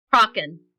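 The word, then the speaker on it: Crochan: How is it actually pronounced? Kraken.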